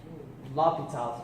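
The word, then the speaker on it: L'Hôpital: L'Hopital's rule, where the x is silent.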